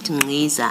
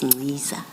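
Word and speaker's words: Nciza: And then in the spirit of the chair of corrections, you said Ngiza. I now know it's Ngiza.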